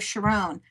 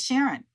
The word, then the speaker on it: Sharón: But I refused to be called Sharon.